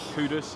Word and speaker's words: Kudus: Kudus, yeah. Yeah, nearly pronounced it wrong, but I've got the right pronunciation.